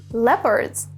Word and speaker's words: leopard: cow now a few wild animal are leopards note the pronunciation leopard Stags which are male deer and